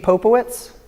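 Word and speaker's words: pepopowitz: Yeah, how do you pronounce it again? Ppopowitz.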